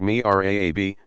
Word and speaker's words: mihrab: designs like that of the mihrab pronounced me RA a B niche and somewhere in